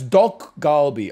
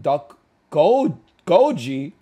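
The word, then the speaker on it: 닭갈비: Oh, that's dok galbi. Okay. Ah, okay. Yeah. Dok galbi. Hold on. I'm reading it through. You're thinking of duck goji? Duck gochi? Oh, God. He is not saying it right.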